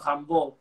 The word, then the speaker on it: Rimbaud: Sí, yo me mando la parte haciéndome el pretencioso, digo, Rimbaud, que es la manera, se supone, correcta, creo yo, de pronunciarlo en francés.